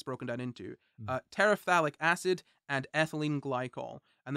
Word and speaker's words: terephthalic: Terephthalic acid and ethylene glycol. I know that it sounds like I'm pronouncing it wrong, but it's quite literally spelled TERETHALIC. Terephthalic.